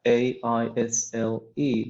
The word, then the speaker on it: aisle: is isle we have a isl e this is pronounced as isle okay so um an